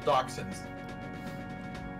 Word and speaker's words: dachshunds: Wiener dogs are called dachshunds. Yeah. Which is a very weird, like, the spelling is not conducive to that pronunciation. It is German.